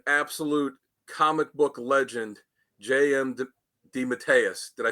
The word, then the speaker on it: DeMatteis: interview with an absolute comic book Legend JM Deus did I say it right got it awesome